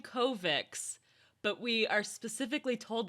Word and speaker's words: Kovacs: It's supposed to be with a CH, but I listened on the audiobook, Kovacs.